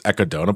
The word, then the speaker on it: echidna: Well, yeah, that would be the Japanese pronunciation of echidna. Oh, like, is it? Is that what it is? Echidna. It's how they, yeah. Is how the Japanese pronounce echidna. So it's echidona, but okay, but why, I